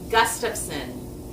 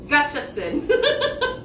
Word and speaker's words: Gustafsson: it for you okay my last name is gustafsson you just say it super fast gust of sin gus and then like